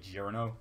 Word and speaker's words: Giorno: I like to say Jirno because it sounds the most Joe to me.